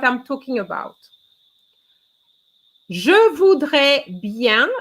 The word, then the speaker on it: bien: talking about je voudre bien so bien is already a problem because very often i hear beyond and it's not yeah oh i don't